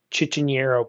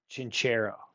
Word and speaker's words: Chinchero: I just looked it up, the actual name of the place, and I was saying it wrong. Okay, we'll do Chichinero, Peru. Chinchero. Chinchero.